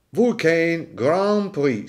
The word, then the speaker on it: Vulcain Grand Prix: vulcane Grand Prix vulcane Grand Prix sentite la pronuncia francofona Grand Prix m come come come viene fuori dolce dolce e si tratta di